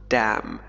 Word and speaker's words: damn: لاحظ النطق دام ليست إن لا تنطق.